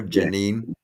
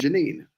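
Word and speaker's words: Jenin: in yenen Janine Janine is that how it's pronounced there Janine Janine right j j j n i n right y Janine and that's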